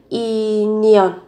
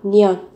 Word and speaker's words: 인연: Các bạn nối âm lên, phát âm là 인연 인연 인연 nhân duyên.